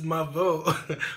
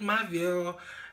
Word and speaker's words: Mavo: It's Mavo. Because in her intro, she's always saying, "Welcome to my channel. It's a girl, Mavo. Not Mavo. Not Mavio. Definitely not Captain Marvel."